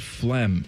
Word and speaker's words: phlegm: I think there's a G in there. Silent G?